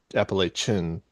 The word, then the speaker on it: Appalachian: You say Appalach Appalachin. It's not the Appalachian Ch Appalachin Mountains. That's how you say it.